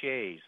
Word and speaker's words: Sidhe: But if you talk about fairy mythology, it's the fairy shays, Sidhe. It's pronounced different than what it's spelled, and those are portals.